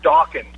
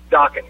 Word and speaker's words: Dawkins: He said Dawkins. And I said, it's Dawkins. Rhymes with rockin'.